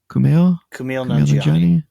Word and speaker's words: Kumail Nanjiani: Munn, and Kumail Nanjiani, I think is how you say his name. Kumail Nanjiani.